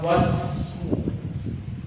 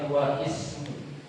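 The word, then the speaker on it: واسم: Makanya di sini kita cara bacanya wasmu, bukan wa ismu.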